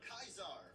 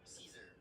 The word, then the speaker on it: Caesar: For right now, you will be Kaisar, or Caesar, which is the real way to pronounce it.